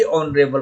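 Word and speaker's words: honorable: तो आप देखिए ए ऑनरेबल पर्सन लिखा गया, ये गलत है। एन ऑनरेबल पर्सन होता है, क्योंकि एच जो है, एच का प्रोनाउंसिएशन यहाँ अ जैसा हो रहा है, ऑनरेबल।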